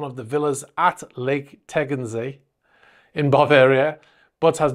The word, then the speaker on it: Tegernsee: He also has some at a lake, which I've asked a German friend how to pronounce it so I don't get destroyed in the comments. It is Lake Tegernsee in Bavaria.